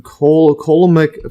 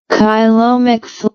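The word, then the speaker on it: coelomic: yeah occur to occur respir let's see the pronunciation here reciprocally or reciprocally or together while the uh colomic fluid kyomic or kyomic fluid serves as a hydroskeleton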